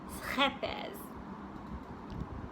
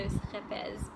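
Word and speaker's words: Scheepjes: So it's the Dutch yarn that, my understanding of how to pronounce this is that it's schepes. If you're Dutch and I pronounced it wrong, please let me know. But I understand it's a ch, so schepes.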